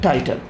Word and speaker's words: tittle: जॉट नहीं कहते हैं, इट is called the टाइटल। The spelling is TITTLE।